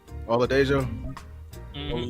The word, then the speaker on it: Oladejo: Oladejo.